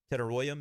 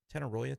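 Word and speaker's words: Tetairoa: Tedoya McMillan I believe is how you say that. Is it Tenoya? Tedella. I'll try to get some confirmation on that. I know it's not Tet. He doesn't want to be called that.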